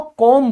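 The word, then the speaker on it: comb: एक बात याद रखना यह जो आपका कॉम है इसमें जो बी है ये बोला नहीं जाता ये साइलेंट होता है ठीक है तो आप इसको कॉम बोलोगे कॉम ठीक है बी साइलेंट रहेगा याद रखना अब आप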